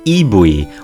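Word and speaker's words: イーブイ: in their childhood and its Japanese name is IUI which much like its English name is a pronunciation of e v the first two letters in the word Evolution according to designer ATO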